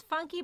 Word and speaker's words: Phuncky: It's funky, but it's spelled Phuncky. So it's a whole new funky way of spelling it.